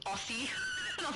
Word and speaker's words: Aussie: They said that I was saying Aussie wrong because they're S's and not zeds. And I'm like, I am Australian. I know how we say that. And sometimes different places pronounce things differently. And Aussie is pr pronounced Aussie even though it's s's. And man, they didn't believe me. They were saying, "You don't even sound Australian. You're definitely lying. It's definitely Aussie."